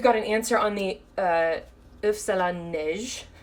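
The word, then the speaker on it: île flottante: an answer on the if salon niche which I still think I don't pronounce right but very kindly this culinary teacher saying I pronounced it perfectly it means snow eggs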